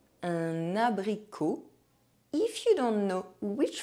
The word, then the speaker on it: abricot: The letter O is pronounced O when followed by a silent consonant at the end of a word. Un abricot.